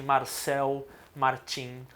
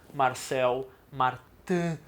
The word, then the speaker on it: Marcel Martin: a linguagem cinematográfica de Marcel Martin, ou Marcel Martin, se for para fazer a pronúncia exata do francês.